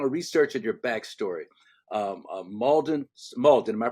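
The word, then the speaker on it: Mauldin: Um Malden Malden, am I pronouncing that correctly? Malden, South Carolina. Molden, South Carolina.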